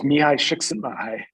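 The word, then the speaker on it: Mihaly Csikszentmihalyi: the book of 1990 uh making sure can pronounce it for us yeah uh he uh his name is miyai shiksenbai uh he was a flow psychologist a flow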